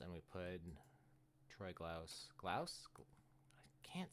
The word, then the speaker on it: Glaus: Glouse. I can't say his name. Troy. Troy Glass. No, that's not Glass. I'm being silly. Troy Glaus glouse. That's that's what I'm trying to say.